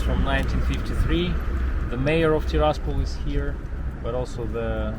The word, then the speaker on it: Tiraspol: It's actually not Tiraspol. Andre taught me actually I'm supposed to be putting the emphasis on the A. So rather than Tiraspol, Tiraspol.